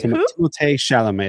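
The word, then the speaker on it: Timothée Chalamet: got to be between Ryan Gosling, Matt Damon, Timote Shalamé, and uh Tom Cruz. Who? Wait, Timote Shalomé.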